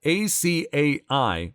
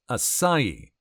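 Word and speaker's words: açaí: That ACAI was pronounced acai and not acai.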